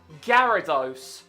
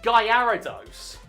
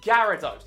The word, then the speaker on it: Gyarados: Like, it isn't Gyarados. It's Gyarados. You don't need to emphasize on the Arados. It's Gyarados. You don't need to emphasize the Ara part in its name.